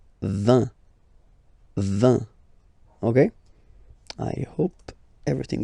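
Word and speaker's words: vingt: And the last one, so this G letter is here, but you don't pronounce it.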